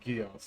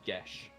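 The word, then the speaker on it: geas: I've always pronounced it I've always pronounced it guos like K it's it's Irish gelic which means it's pronounced GES Oh I thought they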